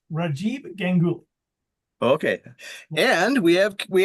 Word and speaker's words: Rajib Gul: it wrong when I announce you tonight it's rajib Gul okay and we have we have Kenneth okay